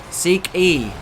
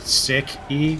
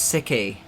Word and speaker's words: Siki: I think they're trying to say you pronounce it Sick E, not Seek E. Oh, it's Siki. Like that. But I guess that's a pronunciation thing, you know, whatever. No, it's not. It's because I make it sound like it's religious. I genuinely thought it was like Sikh, as in the religion, but it's not.